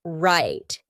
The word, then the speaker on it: right: How about the word right? Did you hear right? Nope. Instead, when I said that final T, my tongue was stopped at the top of my mouth. That's why we call it a stopped T.